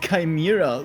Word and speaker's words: chimera: I know thanks for reminding me James it's pronounced chimera by the way meal cheese makes no sense